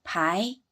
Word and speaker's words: 排: 坡挨排，第 2 声。写完字母后再标声调符号，第 2 声标在啊上。